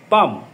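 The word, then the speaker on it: palm: এবার আসা যাক পাম, PLAM, পাম, এর উচ্চারণ পাম।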